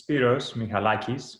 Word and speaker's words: Spiros Michalakis: So the way to pronounce my name is Spiros Michalakis. Michalakis is the last name. As Greek, obviously, it's very hard to pronounce, but also very long.